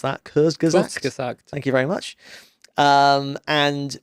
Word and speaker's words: Kurzgesagt: It's made by a channel called Kurzgesagt. I can't pronounce that. Kurzgesagt.